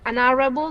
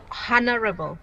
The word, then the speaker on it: honorable: your pronunciation about that should be an arable not honorable okay okay sometimes you don't pronounce h for some quest so for some words in english okay all right thank